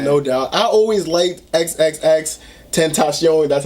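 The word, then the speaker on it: XXXTentacion: I always liked XXX Tentacion, that's how you say his name.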